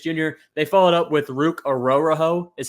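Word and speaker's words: Ruke Orhorhoro: get Michael penck Jr they followed up with ruk aoro is how you say his name um I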